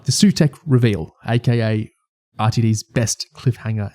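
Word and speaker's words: Sutekh: Sutek. What a coincidence that one of Doctor Who's greatest villains, the second syllable of his name is Tech.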